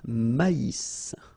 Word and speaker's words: maïs: So here you get this tréma, so maïs, maïs. And then you pronounce the final S, maïs.